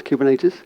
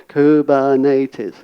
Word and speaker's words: Kubernetes: outside I will be teach you how to pronounce kubernetes kubernetes it's a kind of Japanese word I'm using